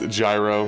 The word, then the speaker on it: Gyro: And gyro, technically it'd be pronounced zero, right? But I think it's gyro in this world, so I'll roll with that.